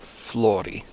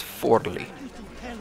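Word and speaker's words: Forlì: the way I realized I've been pronouncing the city wrong this whole time it's not Floy it's forly apparently I'm still probably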